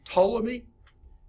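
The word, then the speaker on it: Ptolemy: think he was Egyptian named toomy uh the P I think is silent toy and it's called the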